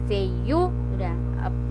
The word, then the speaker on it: feiura: No caso lá, a palavra é feiura, a sílaba mais forte, então é o U.